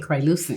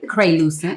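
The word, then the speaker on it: croissant: Crayucent. Creent. Oh my god. A lot of people have have a time trying to pronounce it, but it's crucent.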